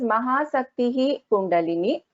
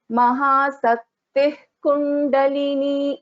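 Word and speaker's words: महाशक्तिः कुण्डलिनी: So which means we will not chant this as Mahasaktihi Kundalini. We will pronounce this as Mahasaktih Kundalini.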